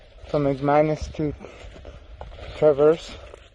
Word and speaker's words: Traverse: good actually we're here lake travers i think that's how you say it i just talked to a guy that's how he said it all right the parking